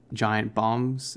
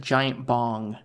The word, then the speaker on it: Giant Bomb: sort of app for giant bombs content. They have, which is a... It sounded like you said giant bong. Really? Giant bomb. Like a bomb.